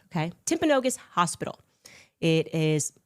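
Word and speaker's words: Timpanogos: Um I'm told actually it's pronounced Temponogus. Okay. Temponogus hospital.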